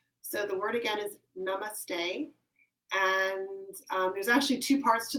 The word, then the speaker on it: namaste: word so it's pronounced namaste yeah it's just pronounced namaste a little bit less complicated vowel than you said it before so the word again is namaste there's actually two parts